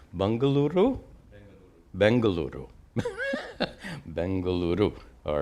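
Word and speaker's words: Bengaluru: people how do you pronounce that their new pronounce bangaluru bangaluru bangaluru bangaluru all right uh Aron asks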